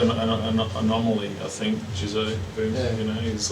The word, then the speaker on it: Jisoe: Is it Jisoe or Jisoe? Jisoe. Yeah.